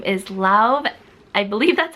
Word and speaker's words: Lauv: His name is Lauv. I believe that's how you pronounce it, L-A-U-V.